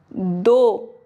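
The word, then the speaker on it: though: दो, ये वोवल है, नहीं पढ़ेंगे, दो।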